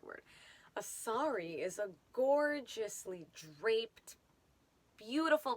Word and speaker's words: sari: repentance sorrow or grief but a sorry is not spelled the way that we pronounce it in english a sorry is a gorgeous confection okay confection's not the right word a sari is a gorgeously draped